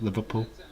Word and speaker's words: Liverpool: liverpool is olivet pill it's not just liverpool it's one word it's one word needy peel liverpool there's no pause it's just liverpool count down countdown eighty